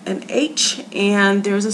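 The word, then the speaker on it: ὁ: And rough breathing has the h sound. The way that you pronounce this word is ha.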